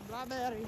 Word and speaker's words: Blåbær-li: Blåbær-li house. Blåbær-li house. That's how you pronounce it in Norwegian, because I'm spot on.